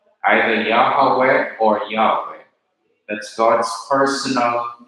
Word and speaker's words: Yahweh: Most Hebrew scholars believe that the original pronunciation was Yahweh, either Yahweh or Yahweh.